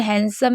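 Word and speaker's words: handsome: भी साइलेंट रहता है जैसे हैंडसम में आप देख रहे हैं जी नहीं है तब भी साइलेंट है और बाकी सभी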